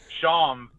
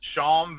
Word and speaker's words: chanvre: It's so chanvre. Chanvre is the French for hemp. Okay. Chanvre. So it's like Sean with a VE at the end, and the R is kind of silent.